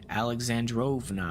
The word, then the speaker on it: Alexandrovna: Alexandrovna, I was saying it wrong.